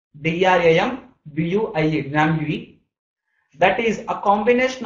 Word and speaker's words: Drambuie: That is, suppose if you take Drambuie, D-R-A-M-B-U-I-E, Drambuie, that is a combination of honey and as well whiskey.